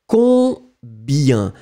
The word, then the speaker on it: combien: Combien. You don't hear any M or any N at all.